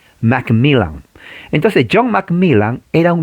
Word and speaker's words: McMillan: o sea no es mac millan en español pero la doble l se pronuncia como l mcmillan entonces john mcmillan era